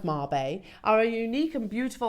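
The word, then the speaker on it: Mabe: very very special but what is a Marb Pearl well mab there we go pronounced Marb are a unique and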